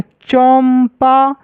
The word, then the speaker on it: चंपा: लेकिन यहां पर म का उच्चारण आ रहा है ना? चंपा और यहां पर पढ़ गए तो क्या आ रहा है? चंदा।